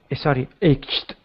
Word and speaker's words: ached: Ached. Ached. This Ached. CH is tricky. Sometimes CH can actually make 3 different sounds. In this case, it's a hard K sound.